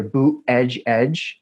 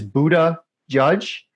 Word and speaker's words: Buttigieg: III you know there's there seems to be two popular ways of pronouncing his name either booth edge edge I prefer the second one which is Buddha judge because I think that